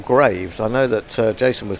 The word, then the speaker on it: Greaves: Now, we were just talking about whether Greaves should be pronounced Greaves as it's spelt, or Graves.